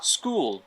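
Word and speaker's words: school: স্কুল স্কুল স্কুল স্কুল এখানে খ হবে না উচ্চারণটা কই হবে স্কুল স্কুল স্কুল স্কুল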